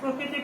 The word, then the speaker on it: প্রকৃতি: আমরা যেহেতু প্রকৃতি প্রত্যয় করেছি, প্রকৃতি এবং প্রত্যয়, তাহলে এটার উচ্চারণটি আমরা আজকে শিখে নিব। প্রথমে র ফলা হলে আমরা জানি যে ওকার হয়, প্র কৃতি।